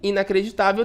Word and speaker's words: inacreditável: Porque o tá é, né, a sílaba mais forte, a penúltima, e inacreditável termina em L.